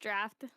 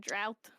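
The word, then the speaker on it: draught: D r a u g ht is pronounced exactly like the word draft. Despite the aug spelling, it does not rhyme with brought or drought.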